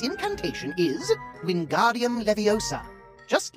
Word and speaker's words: Wingardium Leviosa: Its incantation is Wingardium Leviosa, just like this. Wingardium Leviosa. Pay attention to your pronunciation. It's Wingardium Leviosa. Remember, make the ga nice and long.